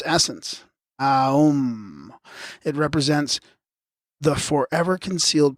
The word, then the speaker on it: Aum: The sentence Om Mani Padme Hum is not a 6 but a 7-syllable phrase, as the first syllable is double in its right pronunciation and triple in its essence. Aum.